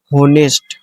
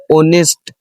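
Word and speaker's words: honest: इसे पढ़ते हैं ज्यादातर लोग होनेस्ट। ठीक है? होनेस्ट पढ़ते हैं। होनेस्ट। लेकिन इसका सही मीनिंग पता क्या है? ऑनेस्ट। ऑनेस्ट।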